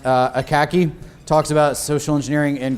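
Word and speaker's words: Akacki: Danny, I believe his last name is pronounced Akaki, talks about social engineering in great detail there.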